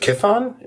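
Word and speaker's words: Chthon: I think it's I think it's just Kithon.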